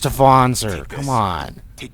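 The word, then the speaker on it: Wanzer: It's pronounced Vonzer.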